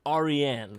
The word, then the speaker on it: Arian: And it is a Persian name. It's pronounced Arian.